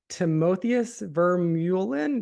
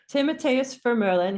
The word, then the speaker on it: Timotheus Vermeulen: His name is Timotheus Vermeulen. Do you have any idea how to say this? Timotheus Vermeulen.